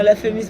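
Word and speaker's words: La Fémis: No, La Femis, because I thought that you said that the school was called Feminist.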